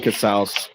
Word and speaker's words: Casaus: Cass and it is pronounced cas like house.